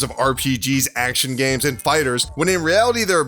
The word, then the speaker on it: FighterZ: video game adaptation Dragonball Fighters I know it looks like fighter Z but apparently it's pronounced fighters and we're going to